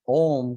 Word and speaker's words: Om: The smaller sound, the other three syllables from Om come three syllables, A, U, Ma. So if you notice, A is coming from deep inside, U, Ma, right?